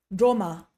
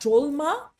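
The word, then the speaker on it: སྒྲོལ་མ: So it's Tashi, Droma. And the reason it's not Drolma is that thing we talked about earlier with the syllable. We kind of almost lose that last letter, Droma, droma, Tashi, droma, okay?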